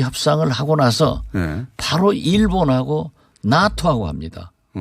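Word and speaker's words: NATO: 미국이 우리 한국하고 방위비 협상을 하고 나서 바로 일본하고 나토하고 합니다. 미국 발음은 네이토예요.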